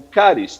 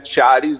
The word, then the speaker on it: CHARIS: Algunos lo pronuncian charis, lo pronunciamos nosotros, ¿cierto? En Latinoamérica, pero digamos que que el término sería caris, que son una por las iniciales en inglés.